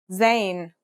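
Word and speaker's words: ز: a DOT on top in terms of pronunciation you say just like the English Z as in zebra or Al jaaz practice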